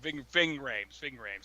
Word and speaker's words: Ving Rhames: Ving Rhames, that's how you say his name.